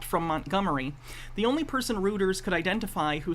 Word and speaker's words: Reuters: So this guy, I don't know if he seems like he's genuinely, it's pronounced Reuters, sorry.